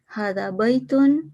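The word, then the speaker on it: هذا بيتٌ: that is a mosque hadabyton is pronounced with an alif but it is written without the alif the word were is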